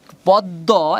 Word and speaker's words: পদ্ম: তার মানে আমরা একটু আগে বলছিলাম, ওখানে আগেরটায় পড়াছিলাম যে শেষে যদি মফলা থাকে তাহলে উচ্চারণ দিতে হবে, কয়বার হবে? দুইবার। ঠিক পদ্ম, এখানে শেষে মফলা আছে, তার মানে সেম নিয়ম, শেষে মফলা থাকলে দিতে হবে।